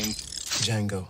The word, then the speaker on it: Django: Django. D-J-A-N-G-O. Django Unchained. D is silent.